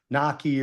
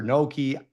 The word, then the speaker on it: gnocchi: You've actually got a vowel at the either say it properly or say it the way an American would say it, which is a lot of Americans say Naki or Noki. That's fine with me.